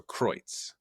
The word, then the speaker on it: Kreutz: And she also says, Kreutz, she says, and Kreutz is pronounced where the EU diphthong. Is that how you say that word? The EU diphthong sounds like oi, so Kreutz. Kreutz.